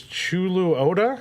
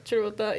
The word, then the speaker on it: Chuluota: So last thing before we close out this episode, back in our pronunciation thing, here southeast of Oviedo is Chuluota. Chuluota. Churota, yeah.